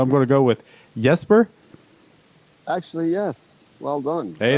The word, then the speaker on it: Jesper: well done hey there so there's a difference between how you would pronounce the the letter J in Swedish sure which is which kind of more like sounds like the why kind of a soft J the English version of